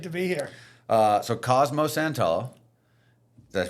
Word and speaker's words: Santullo: So Cosmo Santullo. Did I pronounce that right? Santullo.